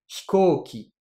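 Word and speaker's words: 飛行機: Je vous donne un autre exemple, l'avion, hikoki. Le hi, j'ai pas prononcé le i, pas véritablement. Hikoki. Voilà, ici, ça se prononce que très légèrement.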